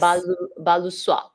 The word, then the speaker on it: Balusoie: Balusoy? No, remember No, remember toile. Toile. Toile. So this is like soie. Yes. Balusoie.